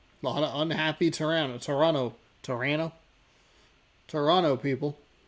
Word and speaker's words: Toronto: Torano. Toronto people. You don't pronounce the second T.